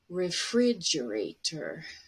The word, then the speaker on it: refrigerator: Another example, refrigerator. You see, fridge is stressed. It's going to be high, a little bit longer and louder.